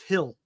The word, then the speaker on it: Gil: tomorrow for the Yankees is it Gil or Hill I think it's Hill right I think I pronounce it Hill Gil it's I think it's pronounced Hill G I think it's Hill right I never heard him called hill before they have a hill but not a they don't have two Hills there's a hill and a hill Luis Hill it's I think it they pronounce it Hill okay everybody says Patrick